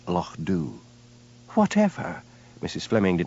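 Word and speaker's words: Loch Dubh: What has happened to Lo Dub? She demanded. Lo corrected Hamish gently. It's pronounced Lo Doo.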